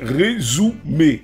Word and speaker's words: Resoomer: Cet outil-là, c'est Resumer. Ça s'écrit R-E-S-O-O-M-E-R.